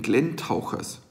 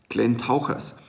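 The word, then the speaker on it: Glentauchers: Also, jetzt habe ich es falsch ausgesprochen. Ich glaube, es sagt man Glenn Tauchers. Weil wenn man Glenn Tauchers sagt, hört sich's an wie Glenn wäre so ein kleiner Tümpel und er wird getaucht. Also, es hat zum Beispiel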